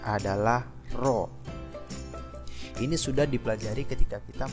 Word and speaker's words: rho: Ini cara bacanya adalah rho.